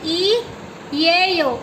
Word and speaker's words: 이에요: तो मैं यहाँ से रब कर दिया मैंने ये, और यहाँ पे लिखा, मैंने बोला ई ये यो। इसको कैसे प्रोनाउंस करते हैं, ई ये यो, ई ये यो।